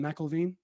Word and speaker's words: Mcilveen: i'm really really really excited to have jessica mcelveen am i pronouncing that right is it michael veen yeah you got it first time okay wonderful